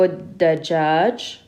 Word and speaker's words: الدجاج: Now if this here had an alif lam, we would have pronounced it with the shadda on the dal because dal is a sun letter. So we would have said هي تحب الدجاج. And if there was an alif lam here, we would say والخبز because the kha is a moon letter. So we pronounce the lam.